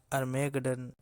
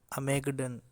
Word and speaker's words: Armageddon: ऐसा ही एक बहुत ही इम्पोर्टेंट वर्ड अर्मेगडन, अमेगडन, जिसके दो अलग अलग थोड़े स्लाइटली डिफरेंट प्रोनाउंसिएशंस हैं यूके और यूएस में, वो हम डिस्कस करने जा रहे हैं।